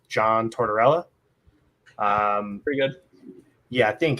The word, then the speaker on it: Tortorella: I think his name is pronounced John Tortorella. Pretty good. Yeah, I think it is. That's a hard name for you to say versus all the other ones. No, it's Being sarcastic. it's John Tortorella, the guy who hates anyone.